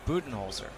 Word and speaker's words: Budenholzer: His last name is pronounced Budenholzer.